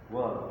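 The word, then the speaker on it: Wahl: Yang pertama HL bacanya Wall ya.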